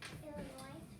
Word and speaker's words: Illinois: right what is it illinois illinois all right illinois is a little bit tricky because that last letter is silent all right after you